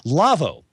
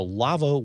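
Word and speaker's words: LAWO: or comments we'd like to hear about them lavo lavo is a sponsor of this week in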